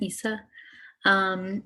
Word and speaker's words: Isa: I'm sorry if I'm pronouncing your name wrong. Hi, yeah, I'm Isa.